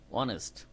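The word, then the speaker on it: honest: অনেস্ট শব্দটা হনেস্ট হবে না, আমরা জানি। প্রথম শব্দকে অমিট করে বাদ দিয়ে পরের থেকে ও থেকে শুরু হবে সাউন্ডটা, অনেস্ট।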